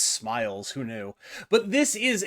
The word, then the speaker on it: SMLZ: It's actually pronounced Smiles.